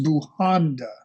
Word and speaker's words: Bujanda: Bujanda, Bujanda. And I apologize for mispronouncing your name. It's Bujanda.